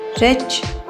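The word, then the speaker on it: wrench: ब्रांच branches torch टॉ्चेस रेच रचेस इसमें W silent है रच रचेस व्ट व्चेस टोपास टोपासेस लच लेचेस इंडेक्स इंडेक्सेस और इंडसेस।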